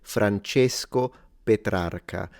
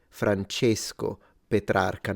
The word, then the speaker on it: Francesco Petrarca: So he's closing the E, Francesco Petrarca.